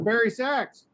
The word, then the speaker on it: bari: not a minute ago it rhymes with mr berry's name i hey what's my name what's what's his name barry barry it's the barry sax dear sex the only